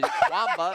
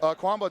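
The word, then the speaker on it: Qanba: Kwamba. It's Kwamba to me. I've heard different pronunciations, Chemba, but I like Kwamba.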